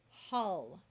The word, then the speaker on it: hull: Here are some words that use the short U sound, even though they look like they would rhyme with pull and full. Dull, skull, hull, dully, so we can add a suffix, skulls.